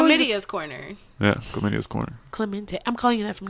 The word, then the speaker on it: Clemente: what's your real name Clemente Clemente it's not like chlamydia you always say listen your media's corner yeah Selena's corner Clemente I'm calling you that